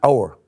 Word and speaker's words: hour: with a silent AG a silent AG an hour an honest word an